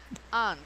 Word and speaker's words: aunt: Aunt. Aunt? You can say aunt or Aunt. aunt. Lo he visto de las dos formas.